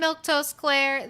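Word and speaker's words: Milquetoast Claire: I'm Milktoast Claire. That's how you say my name.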